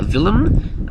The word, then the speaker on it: Willem: Okay, now, this guy, his name is actually Willem, pronounced with a V instead of a W.